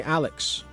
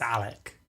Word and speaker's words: Alec: People call me Alex. They think my name's Alex. I correct them. I say my name's Alec.